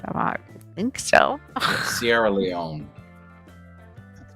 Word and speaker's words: Sierra Leone: Sierra Leone. That's how to pronounce it.